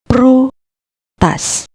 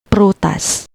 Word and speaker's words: prutas: The first syllable pru starts with a consonant cluster PR or para, followed by a vowel u, and the next syllable tas completes the word. Read it as prutas, prutas.